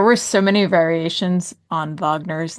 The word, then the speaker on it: Wagner: And while I appreciate the pronouncing the W in the more proper German, you gotta get the vowel right then.